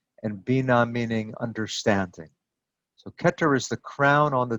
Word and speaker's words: Keter: human body look at the very first one ketter ketter means crown in each case the hebrew word beneath the hebrew word is the pronunciation so this is ketter and the meaning of that word is off